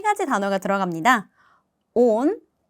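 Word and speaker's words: он: 하지만 오는 모음이 하나이기 때문에 강세가 무조건 이 유일한 모음에 떨어지는 거예요. 온.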